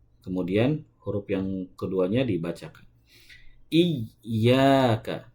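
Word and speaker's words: إِيَّاكَ: Nah, yang betul ditahan dulu. Ada penahanan dulu sedikit. Seakan-akan kita sedang membaca huruf yang sukunnya dulu. Ya, sukunnya dulu. Iya. Baru membaca ya yang berharakatnya. Jadi yang betul pengucapannya harus ditahan terlebih dahulu atau ditekan terlebih dahulu baru kemudian dilepaskan.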